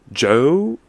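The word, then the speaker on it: Djo: Last but not least, to conclude, Joe, but it's spelled like DJ O. I don't know.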